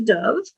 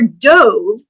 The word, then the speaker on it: dove: It's a kind of bird, or that's a dove, or dove, to go into the pool head first.